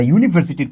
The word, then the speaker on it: university: এটা আসলে যের মত উচ্চারিত হয়।